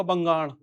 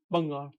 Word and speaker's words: बंगाल: को, आपने सुना होगा बंगाड़। आपसे बोलेंगे आप कहाँ से हो? बंगाल से हूँ, बंगाड़ी हूँ। भाषा कौन सी है? बंगाड़ी है। तो बंगाल, बंगाल हिंदी में ज्यादा सही रहेगा, बंगाल, बंगाल।